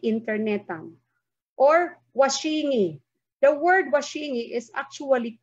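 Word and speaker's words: washing-i: But in spelling it, okay, washing is an English word. You add an affix, a suffix I, which is waray. You have to separate it with a hyphen. However, you pronounce it as washingi.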